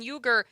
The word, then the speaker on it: Uyghur: The correct pronunciation, I've seen it both ways. He is saying it's Uyghur.